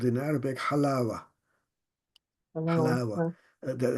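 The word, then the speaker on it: حلاوة: is called in Arabic halawa halawa the halawa is the is the proper literary pronunciation U the Palestinians in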